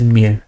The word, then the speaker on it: mu: So lambda is pronounced lambda, like this. It's written like this, and mu is mu.